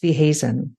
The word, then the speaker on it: Weehuizen: So I'd love to welcome on today's episode, Alex Weehuizen. Alex, I hope I haven't butchered your surname.